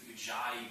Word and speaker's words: ujjayi: video I wanted to talk about a little more depth, primarily with ujjayi breathing. Ujjayi is spelled U-J-J-A-Y-A, I believe.